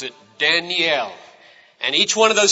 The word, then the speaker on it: Daniel: The name Daniel has 3 syllables. You pronounce it Daniel.